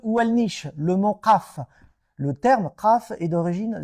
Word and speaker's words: Qaf: Le lieu où elle niche, le mont Qaf. Alors, la prononciation du K en arabe est littérale, c'est Qa, comme ça. Qaf, ou la montagne Kaf, comme vous voulez.